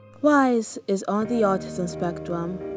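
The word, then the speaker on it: Wyse: brown curly hair named spelled with a white like w-y-s-e wise is on the autism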